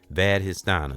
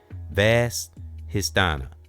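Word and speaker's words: Svadhisthana: Vad histana. It's like the s is silent.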